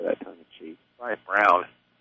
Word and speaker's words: Braun: Ryan Brown. My preferred pronunciation.